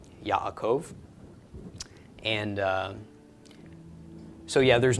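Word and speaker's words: יעקב: quote me on that but anyway regardless it's pronounced Yaakov Yaakov and so yeah there's not much correlation between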